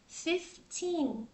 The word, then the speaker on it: fifteen: rồi 15 thì sao 15 mình không đọc là F nha rất nhiều bạn nhầm và đọc số 15 là thành là F là sai Ha mình sẽ đọc là fif fif fif fif nó có chữ ph cả nhà fifteen Ok fif rồi rồi